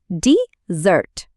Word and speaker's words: desert: এই জায়গাটা হল একটা ডিজার্ট। শুনলেন তো এখানে জোরটা পড়ছে প্রথম অংশে। ডিজার্ট গল্পে ফেরা যাক।